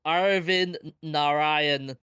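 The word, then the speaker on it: Arvind Narayanan: sorry I'll I'll just I'll pronounce it for you it's Arin Naran okay all individual components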